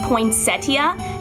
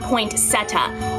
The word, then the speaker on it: poinsettia: with a tricky name it's pronounced potia not poeta which I'm guilty of doing for half of my life poinas are the Divas